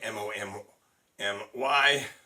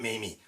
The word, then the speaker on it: Mami: For those of you who've been wondering, have I just been calling her Mommy as a nickname, M-O-M-M-Y? No, her name is M-A-M-I, which in Japan is pronounced Mommy, not Mamie or Mammy.